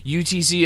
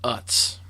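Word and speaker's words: Utz: like narrator is like, "Hey, you found some UTC all naturatural multicolored potato chips." Uh, dude, uh, it's pronounced UTS.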